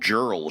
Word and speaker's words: Jerle: Yeah, Jared is spelled, if it is pronounced that way, I don't want to know, Jerle. Yeah. Like if it were like Yerli. Yeah, it'd be more interesting.